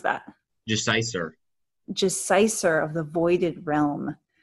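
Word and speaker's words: Gesiycer: How do you pronounce that? Jeciser.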